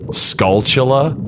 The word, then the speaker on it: Skulltula: Another one that he said was instead of I actually got this wrong for a long time, like skulltula, like specific tarantula, but like a skull.